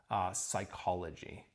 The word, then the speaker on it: psychology: Where they came into English with this odd spelling, PS, that actually isn't pronounced at all, psychology, psalms, we treat it as if it's just an S.